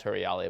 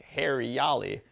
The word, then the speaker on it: Huriyali: so it'd be like if you as it's pronounced her reality but as like an English speaker reader we'd be like Harry yali we're like all right we don't want hair